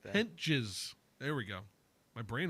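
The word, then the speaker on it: Hentges: Adrian Hauser, Sam Hentage, God, I can't say his name. Hentage. I don't want to say his name. Just don't. Hentage. Henches. Something like that. Henches.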